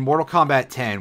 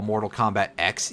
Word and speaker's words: Mortal Kombat X: because of course in in mortal kombat 10 which i have to try really hard not to call mortal kombat x even though you know that's that's kind of not correct on a couple of levels it's not like mega man x it's it's mortal kombat 10 they just specifically used a roman numeral for that one i think probably to